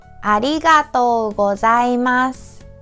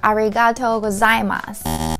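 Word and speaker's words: ありがとうございます: Again, about the pronunciation, many people tend to say arigato or arigato gozaimasu. But each character has same length, okay?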